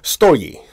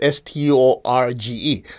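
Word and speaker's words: στοργή: It's spelled Storge. So I've heard people say storge, right? Well, I contacted Greece and said, it's storge. You don't pronounce the G.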